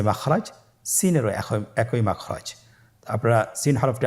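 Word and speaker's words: سين: Scene হরফটি উচ্চারণ ক্ষেত্রে অবশ্যই তিন আলিফ টেনে পড়তে হবে। সিন হরফটি বারিক হরফ পাতলা করে উচ্চারণ করতে হবে।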